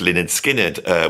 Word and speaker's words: Lynyrd Skynyrd: I was a fan of Lynyrd Skynyrd, my favourite album being the first album, pronounced Lynyrd Skynyrd, which has Freebird on it.